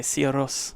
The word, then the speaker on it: Sigur Rós: mine too but I know that you say Co rose so I'm saying it that way and I